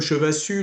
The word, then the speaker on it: Chevassus: C'est comme Chevassus, moi le S se prononce pas, donc c'est bien, Parfaitement.